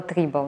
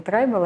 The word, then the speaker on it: tribal: Я это тогда называла трибал. Не трайбл, а трибал. Мне почему-то казалось, что именно так вот произносят это слово.